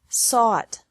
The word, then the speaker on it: sought: Seek, sought, sought. Teach, taught, taught. Think, thought, thought. Remember that the G is silent in these verbs.